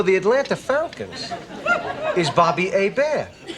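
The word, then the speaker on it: Hébert: A bear. H E B E R T. A bear.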